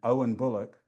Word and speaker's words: Owen Bullock: My name, Owen Bullock, 4 syllables. In Japanese, O-U-E-N, Bu-ro-ku-ku. 9 on to say my 4-syllable name.